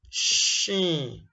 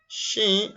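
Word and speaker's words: شين: The closest English equivalent in pronunciation is what? Shine, polish. You get the sh, and this is sh. Description. This is pronounced from center of the tongue, touches the palate, similar to the English word sheet.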